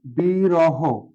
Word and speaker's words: বিরহ: আর একটা শব্দ নেই বিরহ, বিরহ এই শব্দটা কিভাবে লিখতে পারি, শেষে হ আছে, উচ্চারণটা হবে বি র হো, বি র হো।